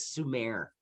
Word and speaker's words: Sumer: And then over here we have, it looks like summer, we pronounce that Sumer.